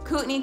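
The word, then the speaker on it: Kootenai: doesn't other examp Les cutney County doesn't sound how it looks St Mary's it looks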